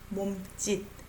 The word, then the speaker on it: 몸짓: You know, S underneath sounds like D, right? 손짓, 실루엣, 몸짓, right? 수줍은 듯 D, 거친 날.